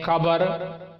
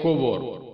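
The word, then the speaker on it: kubur: उर्दू में हम बोलते हैं कबर और मलई लोग बोलते हैं कुबर कुबर। तो अब अगर कबर भी बोलेंगे तब भी वो समझ जाएंगे। स्पेलिंग में आप देंगे कि वो क्यों यू बी यू आर है कुबर और हम बोलते हैं कबर।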